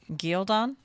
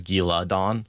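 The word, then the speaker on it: Ghealdan: I I I do definitely three syllables. Gil, like ghoul, uh because there's an a in between it and then dan or dawn.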